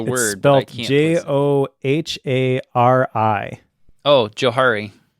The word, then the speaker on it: Johari: It is actually Joe. Is it? Want to know why? Well, I know why because the two names that are tied to it, but I pronounced it Johari. and Harry invented it. Yeah. The guys who invented this matrix, their names were Joe and Harry.